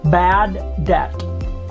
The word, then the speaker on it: bad debt: this closure bad debt bad debt silent b bad debt nominal nominal accounts or